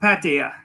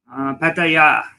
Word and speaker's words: Pattaya: Today we are going to talk about the future Pattaya or Pattaya or Pattaya, however you want to say it.